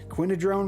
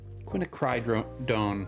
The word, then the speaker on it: Quinacridone: Quinadrone red. So yeah, it's honestly not. Quinacridone. Quinacridone.